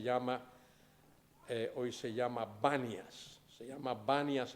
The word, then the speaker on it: Banias: banias se llama banias el nombre reales panas con p pero los árabes no pueden pronunciar la p los árabes no te dicen Pedro te dicen Pedro no te dicen pan te dicen van y por eso el nombre en lugar de ser panas es banias para ayudar a los árabes a que la pronuncien bien allí el señor revela